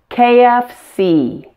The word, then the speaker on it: KFC: how to say them correctly pronounce each letter completely with the most stress on the last letter like this CEO AT&T KFC I've heard so many